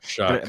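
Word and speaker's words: Shough: Number two, I also have Tyler Shuck, which, by the way, it is spelled Shao Shuh, Shuck.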